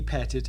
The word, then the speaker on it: Petit: I have heard some people refer to the family as the Petite family, but the correct pronunciation of their name is Petit.